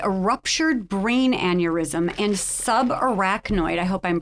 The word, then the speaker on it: subarachnoid: and you survived a ruptured brain aneurysm and subarachnoid I hope I'm pronouncing it correctly Hemorrhage and we're dying to